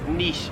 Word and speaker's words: niche: Always said niche, but in Australia, no one says niche. It is niche here in Australia.